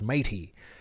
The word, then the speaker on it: Metis: stopped when i was trying to pronounce mighty um which is how you pronounce metis apparently anyways so you know